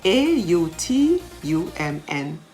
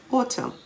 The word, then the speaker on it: autumn: season of the year a-u-t-u-m-n autumn the n is silent column c-o-l-u-m-n him h-y-m-n